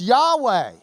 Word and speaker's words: Yahweh: their key P&ID bear I say I don't I because that's the way I memorized it but it's Yahweh in the original Hebrew because the mouth of